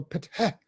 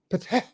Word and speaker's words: Ptah: That is the H for patah, patah. Okay, we put the A in there in order to make it easy for people to pronounce it, but it's PTH, patah, patah, patah.